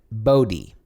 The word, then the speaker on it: Bodhi: No, like Bodhi. Bodhi, like Cody.